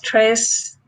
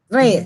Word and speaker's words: tres: You have to trill the R. the siete, like siete, a six is spelled S-I-E-T-E, siete. Tres, Mhm.